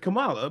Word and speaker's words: Kamala: Yeah, he's not doing it on Kamala, purpose. right? Kamala, like you pronounce it K-U-M, right? Kamala. What I'm saying is the emphasis on the first syllable, not the second.